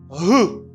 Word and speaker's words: who: It's our father who. Pas bien de dire W à pas prononcer.